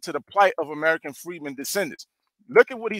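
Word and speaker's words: Friedman: And then what he did was he posted the Jewish name freedman, F-R-I-E-D-M-A-N. Right. Freedmen. They pronounce it Freedmen.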